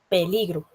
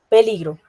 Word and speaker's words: peligro: lleva tilde, pero eh la sílaba que tiene como más intensidad o fuerza al pronunciarla es p peligro. ¿Entienden? Ahí como que se distingue el acento, porque yo también podría decir peligro y el acento está en el li o peligro y ahí el acento está en la sílaba draw.